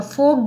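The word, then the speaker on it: folk: नाम क्या है इसका, फोक गेम्स, एफ ओ एल के, इसमें एल साइलेंट है।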